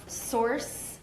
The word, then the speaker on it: Sorce: Okay, so I think some that don't get talked about enough, Source, SORCE, so it's spelled a little bit different, more in the line of sorcery instead of sourcing something.